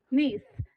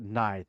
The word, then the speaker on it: Nithe: His name is spelled Nithe. Neath. Neath. Neath. Yes. I've been pronouncing it Nithe, and then she told me the other day That's it's Neath, and I'm like, well, crap.